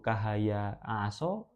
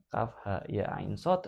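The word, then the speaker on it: كهيعص: Maryam 1 sampai 5 gimana bacanya kaf ya ya kaf ha ya ain shad atau ka ha ya aso kalau kaha ya aso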